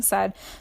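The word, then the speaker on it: Samhain: see it written now it looks like it says samine but it's actually pronounced sa um and that is um the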